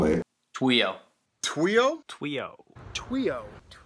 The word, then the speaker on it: TWIO: oh wee oh oh what the heck do you pronounce it while while it's actually just tuile TW